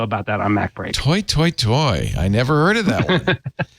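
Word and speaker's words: toi toi toi: toy, toy? Toy, toy, toy? Toy, toy, toy is for opera. As you can ask Andy Anatko about that on Mac Break. Toy, toy, toy.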